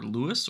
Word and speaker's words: LUIS: called language understanding or Lewis or Luis I've heard it pronounced as well that lets